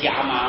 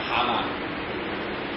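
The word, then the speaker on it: 蛤蟆: 我起初以为是要念作虾蟆了啊，可是按照这个词典并不是虾蟆，是蛤蟆。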